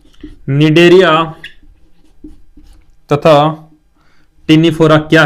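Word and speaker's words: Cnidaria: निडेरिया तथा Ctenophora क्या है? इनके लक्षण बताइए। था अंतर लक्षण अंतर लक्षण और अंतर आपको देखना है भाई किसके निडरिया निडरिया पहले सी आता है भाई सी साइलेंट है इसमें एंड इसमें भी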